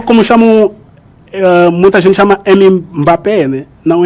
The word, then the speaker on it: Mbappé: Igual como chamam, muita gente chama Mbappé, né?